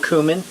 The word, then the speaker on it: cumin: here is our uh cumin or cumin I've heard it pronounced that way as well um our ranch